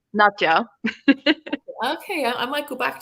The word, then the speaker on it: Nadja: But the way I pronounce it is Nadja. Okay, I might go back to there because I dipped into Nadia for a bit, and now, Nadja.